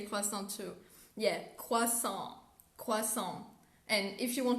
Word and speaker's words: croissant: see the letter and as an english speaker we tend to pronounce the s at the end of the word or etc but there's